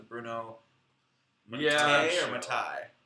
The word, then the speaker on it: Mattei: or Matai? Matei. Mattei. Oh It man. rhymes with okay. Just like a George Takei.